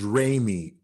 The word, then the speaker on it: Ramey: It is Ramey, such as Do Re Mi, just R-A-M-Y, Ramey.